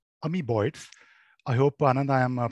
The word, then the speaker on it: Amoeboids: swanan is the ceo of a company called ami boyds i hope anand i am pronouncing the name correctly that's right it's called amy boyds perfect perfect so uh anand before we start